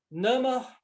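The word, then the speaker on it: नमः: Nama, mudo, esse H aí é mudo.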